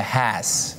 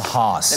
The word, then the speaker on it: Hass: So I'm actually getting a correction now from our producers that it is actually called the Hass. And not the Haas.